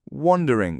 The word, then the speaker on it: wander: I want you to use wonder or wonder. Did you say wandering with the O sound?